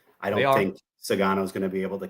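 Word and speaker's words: Sugano: Yeah, Sagano.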